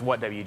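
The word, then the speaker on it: WHATWG: what EG streams uh it's what WG it's just really fun to pronounce it like it rhymes with uh Luigi um uh what kind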